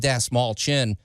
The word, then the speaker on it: Dastmalchian: All right, you guys, we got our buddy Dave Dastmalchian on the phone. I always mispronounce his name. Dave Dastmalchian.